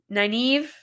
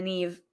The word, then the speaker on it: naive: how to say it naive naive all right naive i'm going to forget and i'm just going to stay in the neve again like the knave again but naive naive all